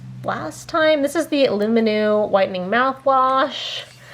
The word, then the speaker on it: Lumineux: This is the Luminu Whitening Mouthwash. This one, let's see, pronounced Lumino.